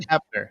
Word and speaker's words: Hoeppner: Hoeppner. The O is silent, people.